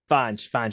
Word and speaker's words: Fonge: Um, but Or reach out to me is it or supposed to be pronounced Fonge or Fonge? Fanj.